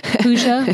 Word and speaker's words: Pooja: By the way, for everyone who has a struggle with Pooja's name, Pooja, would you spell it for everyone?